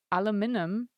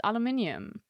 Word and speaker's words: aluminium: Aluminum. It's aluminium. Well, I think I'm right. I pronounce as aluminium.